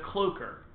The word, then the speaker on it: cloaker: how to pronounce it it's a cloaker and that's LVL oh eh k ER like cloak with an ER ah me okay it